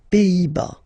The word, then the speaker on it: Pays-Bas: Final S here, not pronounced. Same thing here. Pays, and then bas. Les Pays-Bas.